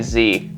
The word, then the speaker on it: Z: Did you not get the mess? It's Z650. Oh, of course. We've been pronouncing it wrong this whole time. Oh, you're right. Yeah, never mind the fact that Americans just say Z.